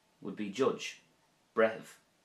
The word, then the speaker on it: Breitheamh: Breithimh would be judge. Breithimh.